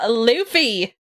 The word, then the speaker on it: Luffy: got corrected before like it's luffy in our defense it's spelled luffy it is spelled like luffy but i guess they're going about the japanese pronunciation when uh you spell